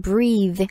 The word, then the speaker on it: breath: 우선 breathe, 숨을 쉬다 라는 표현이죠. Spelling은 B-R-E-A-T-H-E, breathe, breathe. 만약에 그냥 숨이라는 명사 형태로 얘기할 때는 발음이 좀 바뀌어요. Breath. breath 라고 발음을 하는데요.